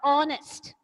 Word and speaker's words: honest: you all understood similarly here is a word honest have you all understood even in this world what the word starts with H here also the H is silent and it has a bubble sound of honest have yalla notice that